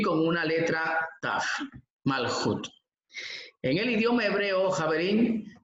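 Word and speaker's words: מלכות: Vamos a dar inicio entonces a esta yeshiva, clase 16 de la yeshiva Ora Ganush, y hoy vamos a hablar sobre el Malhut Shamayim.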